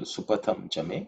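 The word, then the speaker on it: सुपथं च मे: Supatham chame kalpatam. Is that me? In terms of pronunciation, patham. That's a patha. Tha is second letter in the third vulgar, so it has to be aspirated.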